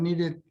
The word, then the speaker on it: needed: Like, sorry, I needed to wait for the bus. Okay, with an intonation. Come on. Sorry, I am needed to wait for the bus. Yes, okay. Thank you very much. Needed. Id. Needed.